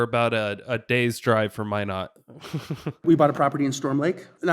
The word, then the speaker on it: Minot: Minot.